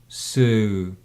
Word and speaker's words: sew: Шов в русском языке, который выделяем шо, sew, шо.